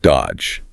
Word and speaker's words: dodge: The transcript highlights the silent middle D in the word dodge. Dodge, yeah, no found there.